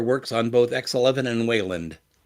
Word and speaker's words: Wayland: on both X11 and Wayland anyone going to correct my pronunciation on the Wayland it's way land enabling Hardware acceleration allows